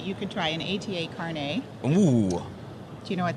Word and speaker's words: carnet: so it's not pronounced Carnet like a lot of people think no no not like a hairnet No it's it's it's caret it's car it's a